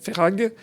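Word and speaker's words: Verhaeghe: Ferrag, ça s'écrit V-E-R-H-A-E.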